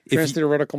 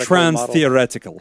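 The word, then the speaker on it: transtheoretical: is you know say that five times yeah trans thetical model model change it's actually pronounced trans theoretical yeah you got to get some was your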